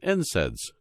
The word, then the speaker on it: NSAIDs: safe compared to non-steroidal anti-inflammatory drugs or NSAIDs pronounced NSAIDs which is the most prescribed medication for treating